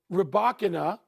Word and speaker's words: Rybakina: On the women's side, Elena I'm going to get the name wrong again. Rib. Rybakina Rybakina.